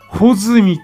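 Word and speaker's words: 八月一日: 。8 月 1 日と書いて穂積という名字の人がおります。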